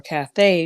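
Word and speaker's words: Cathay: the story is about Kathy Williams or Kath Williams as it's spelled c a t ha A Y who was the first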